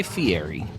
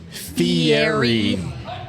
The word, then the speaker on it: Fieri: You got to pronounce it like Brett. Guy Fieri. Fieri.